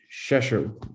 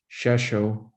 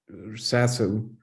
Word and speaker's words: Rzeszów: And they've resettled in Rzeszów, is the way to pronounce it. Rzeszów. In Ukrainian, it would be more like Sasu, but that's the Polish way to say it.